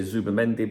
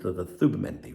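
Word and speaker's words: Zubimendi: I know some of you will say Zubendi, but in this area where I live, it's pronounced the Z as Thubendi.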